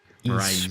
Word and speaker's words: Mirai: Well, double top 10 finish for Mirai Sports. Mirai Sports. Mirai Sports. But it's like spelt with 2 I's instead of an E. Because that's how you say it in Japanese. Because it'd be E. Mirai Sports.